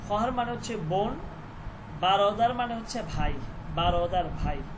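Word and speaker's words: برادر: এখানে যে ওয়াওটা এটা লেখার মধ্যে আসবে কিন্তু উচ্চারণ হবে না খহার খহার মানে হচ্ছে বোন খহার মানে বোন এরপর হচ্ছে বারদার নট ব্যারদার বারদার বারদার মানে হচ্ছে ভাই বারদার মানে ভাই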